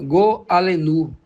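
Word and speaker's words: גֹּאֲלֵנוּ: Para nós entendermos melhor, a palavra redentor aqui no livro de Isaías é uma palavra hebraica, eh, que se pronuncia go alenu.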